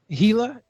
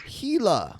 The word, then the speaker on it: Gila: the gilo monster yeah here's the pronunciation key it's gila gila gila gila monster yeah they they're native